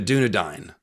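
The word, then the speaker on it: Dúnedain: and then later the dunad but it's spelled it looks like dunadan or Edan it's a i n even though it's said dunad and edine but let's just say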